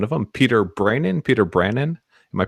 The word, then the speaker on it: Brannen: definitely got one of them Peter brinan Peter Brandon am I pronouncing that right that's right yep so you